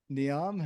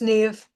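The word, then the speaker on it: Niamh: Niam, how are you? Hello, I'm good. I'm just getting my video on here. It's actually pronounced Neve.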